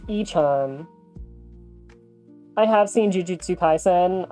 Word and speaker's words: Y-chan: It is pronounced y-chan.